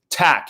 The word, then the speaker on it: Tak: Zach King, he says, I heard King pronounced it tack. Yeah, so that's what I got. That's what I go with. Yeah, well, that's how I say it as well. T-A-K in this case.